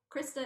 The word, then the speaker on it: Crista: different than what is common so can you pronounce or spell out krista krista is my legit sole purpose it's c-r-i-s-t-a and